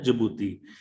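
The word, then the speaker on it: Djibouti: ठीक है, इट is pronounce है जिबूती।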